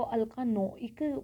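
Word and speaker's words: alkanoic: हम इसको अल्कानोइक प्रोनाउंस करेंगे।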